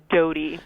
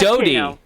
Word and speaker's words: Doughty: Doughty. But, Doughty. Whatever. Doughty. I know who you're talking about. Like Princess Diana's boyfriend. Exactly. Yeah. Bread dough T-shirt is what I say.